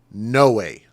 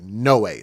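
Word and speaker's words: Noé: N O E and he actually pronounced it. No way. Like no way.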